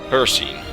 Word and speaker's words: Hircine: hosted by the Prince, now I'm going to pronounce it correctly, in my last video I didn't, by the Daedric Prince Hircine.